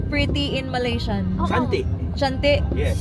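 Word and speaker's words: cantik: Shanti. Shanti. Yes. Shante. What? Shante. C. C A N. C A N T I K O Ah. Shant a silent K.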